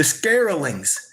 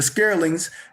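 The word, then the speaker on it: Skraelings: They met a group of short Africans whom they Vikings called the Scarlings.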